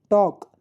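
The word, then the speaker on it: talk: टॉक L silent है।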